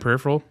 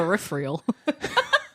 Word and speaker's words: peripheral: I feel like you always say that word wrong. No. Is it peripheral? I say it like that because that's how Cat Williams says it. Oh, okay. My peripheral. He says it in one of his bits. And yeah, it's peripheral.